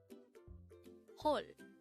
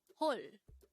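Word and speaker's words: 헐: hole this is pronounced as one syllable word pronounce it with me whole the Korean word Hall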